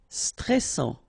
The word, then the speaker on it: stressant: Stressant. Final T not pronounced. A-N together. En. And then double S. Sans. And it will open the pronunciation of your E. So, E. Stressant. Stressant.